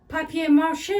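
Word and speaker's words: papier-mâché: I got this little letter, papier mâché, I think that's the correct pronunciation because it's a French technique.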